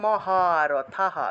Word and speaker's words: মহারথঃ: স, তাহলে মনস্যন্তে ত্বম মহারথঃ, বিসর্গ থাকলে হ উচ্চারণ, মহারথঃ।